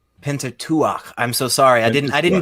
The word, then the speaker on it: Pentateuch: So it seems very obvious in the Pentateuch and the Torah as a whole and rabbinical writings. Just hold on for the record, the proper pronunciation is Pentateuch. Pentateuch.